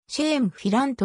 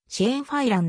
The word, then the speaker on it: Shane Filan: きょうだいの一番末っ子日本語ではチェーンフィラント表記されることが多いが発音的にはチェーンふぁい欄である westlife が結成さ